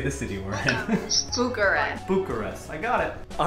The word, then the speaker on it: Bucharest: I get to a new place, since my pronunciation is terrible, Bucharest. I look up how to say the city we're in. Bucharest.